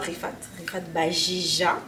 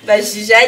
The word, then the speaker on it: Riphate Bajija: Aujourd'hui, j'ai l'honneur en fait de recevoir Rifat Bajija. Ouais, c'est bien ça qu'il a bien prononcé. Bajija qui est étudiante au baccalauréat GTA à l'université de Sherbrooke.